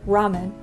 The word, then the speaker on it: ramen: is why we say Ramen in English r a m e n but it's not actually an R it's like halfway between an r and an l and kind of like